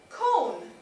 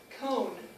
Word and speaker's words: con: el el ice cream cone is with cone with and notice how I'm pronouncing it I'm pronouncing it like cone like an ice cream cone okay it's not con